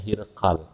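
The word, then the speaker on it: Hiraql: ya Syria bagian utara Kalau bahasa Arab heraklius dibacanya hirqal hirq ya itu membalas surat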